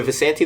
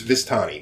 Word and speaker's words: Vistani: they're older women like are the vasanti the people we talked to at first in the camper yes um bastards i hate them or it's vistani this is mispronouncing this whole time there are three vistani